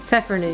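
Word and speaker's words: Pfeffernüsse: Pfeffernusse.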